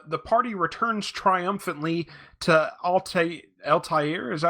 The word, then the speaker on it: Altair: The party returns triumphantly to Altair. Is that how you pronounce it?